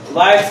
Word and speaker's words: voids: Spelling होता है VOIDS, वाइड्स कहते हैं, ठीक है ना।